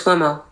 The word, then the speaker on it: Cuomo: Uh Chris Kumo. Chris Kuomo.